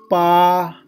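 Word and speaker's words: 八: Then pa, pa, there is first tone. So we need to pronounce pa, pa.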